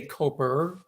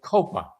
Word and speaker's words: Copa: I don't say Cooper. I say Copa. Now say it right or don't say it at all.